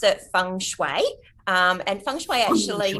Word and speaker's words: feng shui: that correctly okay um feng shui you actually pronounce it feng shui um and feng shui actually mean feng shui